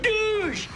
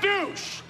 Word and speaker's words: Douche: It's pronounced Douche, not douche. Douche. It is the same spelling, but the Dutch pronunciation.